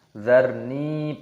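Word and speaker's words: ذَرْنِي: Roknya sukun dibaca dzar. Dzarni panjangkan nunnya, ada ya sukun matobi'i dipanjangkan dua ketukan dibaca dzarni.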